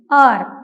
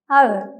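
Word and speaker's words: ağır: ആർ ആർ means heavy ഈ പദത്തിലെ യുമുഷാഗ് ഗെയിക്ക് ശേഷം വരുന്ന ഇ എന്ന ലെറ്റർ സൈലൻറ് ആക്കി ആർ എന്നാണ് ഉച്ചരിച്ചിട്ടുള്ളത് എന്നാൽ ഫോർമൽ ആയിട്ടുള്ള സംസാരങ്ങളിൽ ശേഷം വരുന്ന ഇ എന്ന വൽ ലെറ്ററിനെ സൈലൻറ് ആക്കാതെ ഔർ എന്നും ഉച്ചരിക്കാറുണ്ട് അവർ ആർ അവർ ഇനി യുമുഷാ ഗെയുടെ രണ്ടാമത്തെ ഉച്ചാരണ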